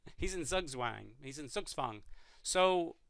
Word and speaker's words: Zugzwang: means bound and it's that Z is pronounced like a TS in English so it's swung so black is in suits Fung and you know people